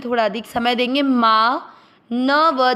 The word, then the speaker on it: मानवः: थोड़ा अधिक समय देंगे, माँ। न व दोनों अक्षर में अ मिक्स करेंगे, मानव। व में अ की मात्रा तो विसर्ग को पढ़ेंगे, ह, मानवः।